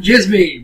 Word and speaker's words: Djismie: and Djismie. We're going to need help spelling this one. Twitter. That's with a K, V-A-N, D-J-I-S-M-I-E, and the D is silent.